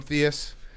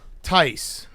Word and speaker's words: Theis: I'm gonna keep calling him Theus. Is that okay? Theis. Tice. But why? If his name's Tice, then spell it like a real football guy, like Mike Tice.